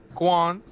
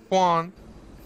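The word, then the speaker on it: Kwon: what is your last name sir my name Juan Juan okay you're gonna spell it for them because they don't look k-w-o-n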